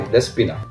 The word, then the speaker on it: Despina: And now they live to our wine, like this one, as you pronounce it correctly, Despina.